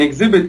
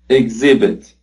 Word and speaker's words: exhibit: It is exhibit, with the stress on the second syllable.